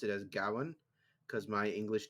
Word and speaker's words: Gawain: Whenever I see Gawain, I always pronounce it as Gowan because my English Right. teacher drilled it into me. That's a proper Welsh pronunciation. That's how she sounds. She's an old lady. It's pronounced Gowan.